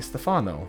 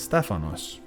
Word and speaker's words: Stephanos: People see that and they say Stefano, Steven, Stefano. Like, no, it's not that. It's Stephanos.